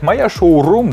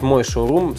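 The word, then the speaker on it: шоурум: правильно говорить моя шоу вот женский род моя шоу-рум встретите кого-то кто будет говорить мой шоу-рум сразу же объяснить это еще одно очень интересное слово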